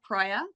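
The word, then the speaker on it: Proia: Proya, just my name.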